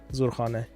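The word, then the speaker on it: Zurkhaneh: Pronounce it correctly. Zurkhane.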